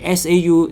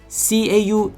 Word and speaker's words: 仇: 我就特登去翻查咗資料，仇係 SAU 而 CAU 仇呢個讀音呢，其